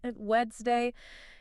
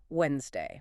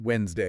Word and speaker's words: Wednesday: So in natural speech, that middle knees sound, gone. Completely disappears. So it's just 2 syllables. 2 syllables. Simply Wednesday. Wednesday. Like wens, W-E-N-S, Wednesday.